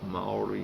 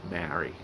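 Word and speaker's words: Māori: I'm going to change it so it's AU, Olimaroa, the traditional Maori name for Australia. I'm sorry that I always say Maori, that's our Aussie way of saying it, but they're actually Maori.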